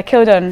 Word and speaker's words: Kildunne: out in the kildon and two ends people spell it wrong a lot obviously killed on there obviously killed Dunes so yeah killed on how it sounds anyway let's get a little